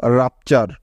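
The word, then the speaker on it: rupture: উচ্চারণটা পেলাম সেটা হলো রাপচার, রাপচার। তো দেখো এখানেও কিন্তু ইউ এর উচ্চারণ আকার হচ্ছে, অর্থাৎ ইউ এর শর্ট সাউন্ড আকার হয়েছে, কারণ হলো ইউ এর পরে এখানে দুটি কনসোনেন্ট পাশাপাশি আছে, তাই।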